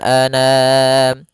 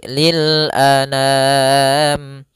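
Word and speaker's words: للأنام: Tapi karena digabungkan penulisannya seperti ini enggak langsung saja lil anam. A sempurnakan hamzah jangan ana. Jangan dibaca dengan dengung atau dibaca dengan masuk hidung. Tidak. tapi lil anam.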